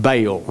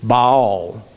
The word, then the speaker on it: Baal: up hearing it and the preacher saying bail now we hear more of ball okay b-a-a-l not it